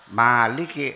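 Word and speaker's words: مالك: lam dan Kaf Nah kalau yang dibaca panjang Maliki harakatnya berdiri jadi bacanya Maliki sebagai pengganti Alif Nah kita jangan menulis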